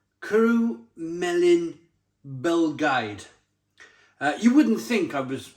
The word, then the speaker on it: Cwrw'r Bae: It's Cwrw'r Bae, a Belgian blonde ale, pronounced Cwrw'r Bae.